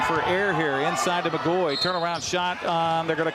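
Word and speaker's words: McGaughy: her first free throw is good by brenn mcgoy it's spelled MC c g a u g y but pronounced mcgoy one more free throw for the senior for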